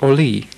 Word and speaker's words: Orly: As French people do not pronounce the last consonant in the word and put an accent on the last syllable, now it is pronounced Orly.